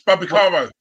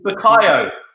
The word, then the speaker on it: Bukayo: It's Babakaro, Terry. Who? Babakaro, his name is. Babakaro. Yeah. Your pronunciation is fucking worse than this, bro. It's Bukayo. Bukayo, sorry.